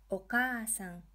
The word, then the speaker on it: お母さん: お母さん. Here we are extending the ka syllable.